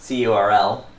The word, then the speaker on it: curl: curl which can also be pronounced crl stands for client for